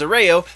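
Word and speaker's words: Ayala: of prey story and as a Rayo though I think he might say it as a reloj it's definitely as a Rayo is how it should be pronounced anyway he is writing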